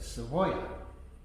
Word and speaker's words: Savoya: the sound of that in fact it's the way it's spelled in in spanish no one would get it correctly said so we just did it phonetically s-a-b-o-y-a so people could say it the way that we wanted to hear it um so it was